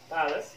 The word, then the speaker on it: palace: التي تنتهي ب ace لكن هنالك استثناء كمثلا palace معناها قصر palace necklace معناها قلادة ثم grimace